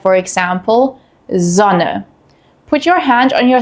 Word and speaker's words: Sonne: We have a voiced S sound, which is a soft buzzing sound. This sound uses your vocal cords, similar to the English Z in zoo.